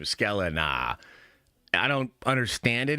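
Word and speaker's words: Sklenar: What a badass last name, Scalena. I don't understand it. If you read it, it's not pronounced that way, but it's just so cool.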